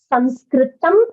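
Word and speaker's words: संस्कृतम्: English but we pronounce sanskritam in Sanskrit okay so the word is sanskritable the correct word is sanskritam if you are referring to the language then the language is called sanskritam that's the correct word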